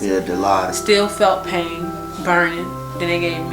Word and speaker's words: Dilaudid: Dilaudid. That's how you pronounce it? Yeah, Dilaudid.